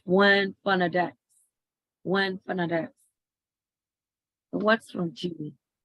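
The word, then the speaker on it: Juan Fernández: Robinson Crusoe is the largest of the islands which make up the Juan-Fernandez. It is one. We have to pronounce Juan Fernandez.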